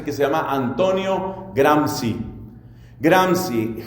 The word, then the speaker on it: Gramsci: que se llama Antonio Gramsci. Gramsci, G-R-A-M-S-C-I. Antonio Gramsci fue uno de los fundadores de todo el movimiento comunista y socialista en Italia. Seguramente se pronunciará Gramsci o algo parecido.